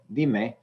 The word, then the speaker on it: dime: You know, di was the stressed syllable because it's the only syllable. And when I add another syllable with me, dime, di is still the stressed syllable, and it is the second to last syllable.